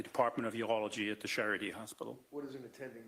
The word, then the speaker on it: Charité: That was in East Berlin as well, on the Charité University Hospital. And can you spell that for the stenographer? Charité is a French word, and Charite with a dash above the E.